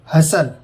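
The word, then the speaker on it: hustle: टी, अगर किसी शब्द के अंत में TEN हो तो टी साइलेंट होता है। एग्जाम्पल देखिए, हेसन, जल्दी करना। ऑफन, अक्सर। हसल, धक्का देना।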